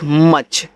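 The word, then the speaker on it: much: यू सी एच मच तो इसको मूछ मत पढ़ना देखो अगर जिसको तरीका नहीं मालूम हो मूछ पढ़ देगा जब दो कॉन्सोनेंट्स के बीच में आपका यू दिया हो तो यू का उच्चारण नहीं करते हैं तो यम से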